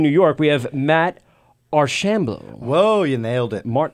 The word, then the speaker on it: Archambault: York, we have Matt Archambault. Whoa, you nailed it. Mart Archambault. Like, I love you, but Archambault. Emphasis on the ham. Archambault.